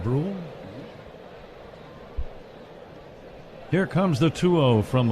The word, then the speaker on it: Bruihl: Am I pronouncing that name properly? It's Bruihl. Brule.